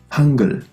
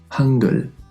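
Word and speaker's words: 한글: Hangul. Esta palabra significa alfabeto coreano, que es lo que estamos aprendiendo ahora. Fíjate que en medio suena mucho más suave, casi realmente como una G de gato. Hangul.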